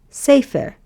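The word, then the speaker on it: ספר: And the word is safer.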